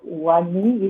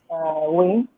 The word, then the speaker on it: Wayne: Uh, is it Wani? Is it Wayne?" So Let uh-huh. yeah, basically the pronunciation is Wayne, like Wayne Wayne. Rooney, like Bruce Oh, Wayne.